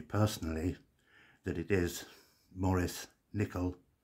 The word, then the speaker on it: Nicoll: Although I believe it's pronounced Nicoll, because he was from Scotland, a place called Perthshire, and they would say, Dr. Maurice Nicoll, N-I-C-O-L-L, Nicoll, Maurice Nicoll.